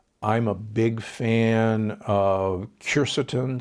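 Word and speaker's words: quercetin: a big fan of sure certain sometimes pronounced cure Seaton it's a compound that's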